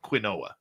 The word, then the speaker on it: quinoa: So a few years ago, because here's my other one, quinoa. Yes, I know it's pronounced quinoa, Uh-huh. but I like pronouncing it quinoa.